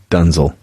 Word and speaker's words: Denzel: on top of it denzel washington yeah okay it's actually pronounced dunzel dunzell you got some movie